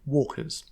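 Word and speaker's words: waka: Those with topsides, of which they have none on this lake, are called wakor, or in common pronunciation, walkers.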